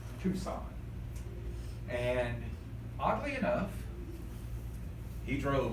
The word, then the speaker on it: Tucson: A lot of people do pronounce it Tuscan or whatever because they think that's how you pronounce it, but it is, it's two and then sign, as it were. All right, Tucson.